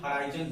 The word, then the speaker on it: horizon: हॉरिजन का मतलब होता है, इसको प्रोनाउंसिएशन हॉराइजन बोलते हैं, इसका मतलब होता है क्षैतिज, इसका मतलब क्षैतिज होता है।